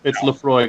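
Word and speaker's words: Laphroaig: No, it's Lafroig.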